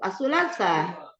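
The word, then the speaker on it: الثلاثاء: Bacanya itu asulasa atau asulasah. Maksudnya berhentinya berhentinya ada hamzahnya gitu, Ustaz. Iya. He asulasa. Asulasa ditekan ya karena ada hamzah.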